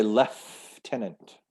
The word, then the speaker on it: lieutenant: pronounced differently um and canadian british we say lef tenant lieutenant yeah i don't know why there's an f sound in there we'll say lieutenant and the american version is lieutenant yeah the